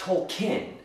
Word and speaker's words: Tolkien: And by the way, it's Tolkien. The E is silent. Or the I, however you want to look at it.